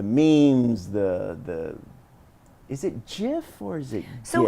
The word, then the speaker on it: GIF: so it's technically I've heard it's GIF is the right way but I will never say it I'm always going to say GIF because GIF doesn't just sounds like peanut butter I like the hard G like you remember when